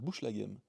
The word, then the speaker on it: Bouchlaghem: Bouchlaghem, ça se prononce Bouchlaghem.